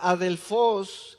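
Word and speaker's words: ἀδελφός: Pero él habló de la palabra Adelfos, que así se pronuncia literalmente del griego.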